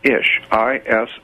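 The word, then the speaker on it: אִישׁ: no no the word man in Hebrew is ish I sh is pronounced ishi i sh is man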